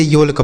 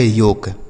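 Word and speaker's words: yolk: ऐसा नहीं करेंगे कि हम इसे योल्क पढ़ेंगे। क्या पढ़ेंगे? योल्क। योल्क बिल्कुल नहीं पढ़ा जाएगा। इसे पढ़ा जाएगा योक। ठीक? यानी एलसाइलेंट है।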